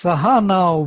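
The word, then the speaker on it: सह: And then next, sahana bhunaktu. Now is falling pitch, and bhunaktu has no accent. So only saha has accent on the second syllable.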